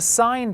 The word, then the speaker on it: sine: This is written sine, but this is pronounced sine, but written sin Theta.